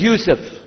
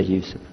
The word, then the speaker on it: Yusuf: My name is Yusuf. Do you say Yusuf? You say Yusuf.